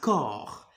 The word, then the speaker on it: corps: prononcer le P et on va pas prononcer s un corps un corps tu es